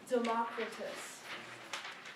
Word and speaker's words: Democritus: And this is how we pronounce them today in English. Thales, Pythagoras, Heraclitus, Democritus.